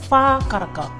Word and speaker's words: whakaraka: sound like an F, but in Te Reo Māori it's a WH, which is pronounced F, right? So whakaraka. How do you string that in your mouth? How do you end up pronouncing that? It's more like, it is like a F, like a European F.